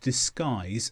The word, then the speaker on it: disguise: Secondly, sometimes when you have U before I, you don't pronounce the U. For example, build, biscuit, disguise and guitar.